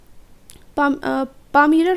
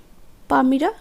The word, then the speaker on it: palmyra: and a bundle of palmyra writing. পামিরা writing, এখানে উচ্চারণটা হচ্ছে পাম, হাতের যে তালুটা সেটাকে আমরা কি বলি, পাম, পামিরা রাইটিং।